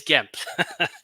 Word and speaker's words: Gemp: And just to get a clarification, the correct pronunciation of Gemp is what? Is Gemp.